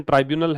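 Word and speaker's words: tribunal: First by the foreigners, है ना, ट्रिब्यूनल इन असम। तो फर्स्ट, पहली बार, बाय द फॉरेनर्स ट्रिब्यूनल, ये विदेशी मामलों का एक न्यायालय है। ट्राइब्यूनल जो होता है, ये इसको प्रोनाउंसिएशन ट्राइब्यूनल है, और ये एक प्रकार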